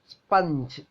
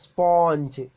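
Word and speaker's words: sponge: നിങ്ങള് അതിന്റെ ഉച്ചാരണം നോക്കൂ സ്പഞ്ച് നമ്മൾ ഉച്ചരിക്കുന്നത് എങ്ങനെയാ സ്പോഞ്ച് സ്പോഞ്ച് നിങ്ങൾക്കറിയില്ലേ ആ വാക്ക് അതിൽ ഫസ്റ്റ് നോക്കൂ സ്പോഞ്ച് ഇൻകറക്റ്റ് ആയിട്ടുള്ളതാണ് ആദ്യം കൊടുത്തിട്ടുള്ളത് കറക്റ്റ് ആയിട്ടുള്ള അവസാനം കൊടുത്തത് സ്പഞ്ച് അപ്പൊ ഫോണറ്റിക് ഫോസിൽസ് എന്ന്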